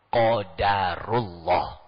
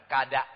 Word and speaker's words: qadarullah: pas ucapannya sama-sama ya qodarullah Q bukan Kada bukan ka ko k q qof sini deh Lailatul